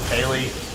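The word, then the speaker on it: Keighley: supposed to be basically it's something by geoff kaley that's how you say his name the guy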